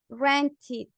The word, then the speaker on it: rented: So we say like this, at the end, tú en vez de decir ed, dices id, rented, ¿ok?